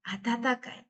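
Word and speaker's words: 温かい: Atatakai. Atatakai. Ya, dibacanya juga atata karena bertemu hiragana ya.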